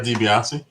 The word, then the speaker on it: DiBiase: million dollar man ted how do you say his last name the wrestler isn't that what it is it's the ted dibiase dibiase in the 1970s and